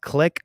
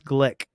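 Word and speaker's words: Glik: My lawyer kept calling it click, but it's glick. But I don't know how it's pronounced, but whatever.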